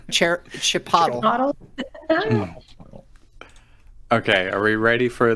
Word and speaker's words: Chipotle: what it's like Chipotle the only proper way to pronounce Chipotle is pronouncing it like Aristotle Chipotle Chipotle okay are we ready